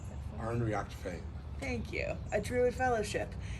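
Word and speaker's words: Ár nDraíocht Féin: Can you pronounce that for me? Arn Reactfane.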